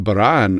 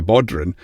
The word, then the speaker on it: bodhrán: And then we have what we call as a baran, or as the Americans say, a bodhran, which it just makes, every time people are like, no, it's a baran, it's a baran. It's a Gaelic word.